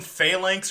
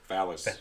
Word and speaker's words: phalanx: it's about, it's some phalanx or whatever the fuck is coming to eat the world and universe It's to pronounced phalanx. Phalanx, whatever. Phallus. Phallus? There's It is There's phallic. an N in there.